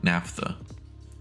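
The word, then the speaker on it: naphtha: And adding one more output gives you NAFTA. Yes, that's how it's pronounced.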